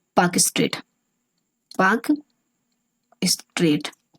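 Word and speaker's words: Palk: क्या है, पाक स्ट्रेट, पाक स्ट्रेट। पाक स्ट्रेट को अगर इंग्लिश में लिखना हो तो ऐसे लिखिएगा, इसका एल जो होता है वो साइलेंट रहता है।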